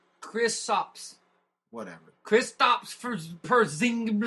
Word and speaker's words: Kristaps: It's Kristaps. Whatever. Kristaps Porzingis. How would you know how to pronounce it?